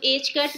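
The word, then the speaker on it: ħ: than or equal to h cut. Now what is h cut? H cut is equal to h over 2 pi. इसको h cut pronounce करते हैं और ये h over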